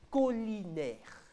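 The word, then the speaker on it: caulinaire: Ça s'écrit C-A-U-L-I-N-A-I-R-E. C-A-U-L-I-N-A-I-R-E. Collinaire.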